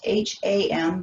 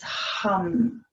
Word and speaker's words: ham: hum so again it's it's spelled h a.m. but it's not ham it's hum and again we accentuate the h the short a and the long am again move into three